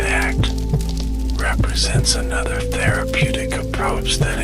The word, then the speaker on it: ACT: Acceptance and commitment therapy or ACT pronounced as the word ACT represents another therapeutic approach that incorporates mindfulness principles developed by psychologist Steven Hayes.